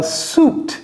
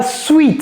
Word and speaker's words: suit: A suit. Ce n'est pas sweet.